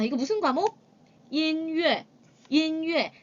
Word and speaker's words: 音乐: 音乐. 音乐. 자, 이 발음할 때 여러분들 첫 번째 단어의 끝에 모음이 n으로 끝나고요.